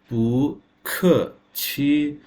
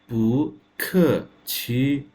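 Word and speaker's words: 不客气: পু খ, পু ইজ এ সেকেন্ড টোন, খ ইজ a fourth tone. QI ছি, মুখ, আমার মুখ এবং উচ্চারণ। QI ছি, পু খ ছি, পু খ ছি।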